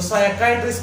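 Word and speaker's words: psychiatrist: इसमें जो पी है वो साइलेंट है, तो साइकाइट्रिस्ट पढ़ा जाएगा, साइकाइट्रिस्ट।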